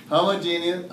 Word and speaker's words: homogeneous: Homogeneous, not genius, there's not an E in there. Homogeneous really is probably the better way to pronounce it.